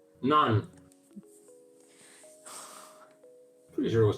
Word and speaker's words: naan: Naan, that's my favorite bread. None. Yeah. Not none. Naan.